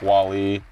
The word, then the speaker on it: Wale: Welty for saying Wale like Wally.